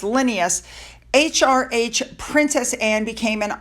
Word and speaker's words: Linnaeus: During their tercentenary celebration in 2007, which coincided with the birth of Carl, I believe it's pronounced Linnaeus, HRH Princess Anne became an honorary member of